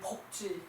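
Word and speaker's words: 曝: 햇볕이이 포는 이제 이때 이때는 폭이라고 읽어야 돼 이때 일 폭 일폭 그 저기 그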